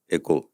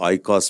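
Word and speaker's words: οἶκος: गलती से हमारे अक्सर लोग इसको आई कॉस प्रोनाउंस करते हैं। लेकिन ग्रीक में जो है उसको एकको कहते हैं।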